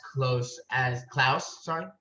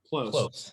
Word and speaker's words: Klose: Be even happier to know that the algorithm has Klaus. Close. Oh, Klose. Okay. As it's spelled.